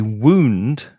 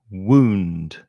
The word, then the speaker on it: wound: still so painful a wound is an injury the pronunciation is a bit tricky wound ooh wound so your lips come together for the sound of the w and the vowel sound is ooh wound so I know